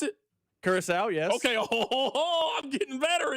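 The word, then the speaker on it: Curaçao: They pronounce it? Curacao, yes.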